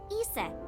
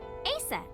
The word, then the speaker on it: Isis: horace's mom is named isis but in ancient egyptian it's pronounced closer to isa or asa hmm how do i